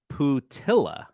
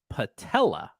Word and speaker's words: Putila: a general manager now his name phonetically it looks like you would pronounce his name putilla but from what I understand it's patella like that's right Pete patella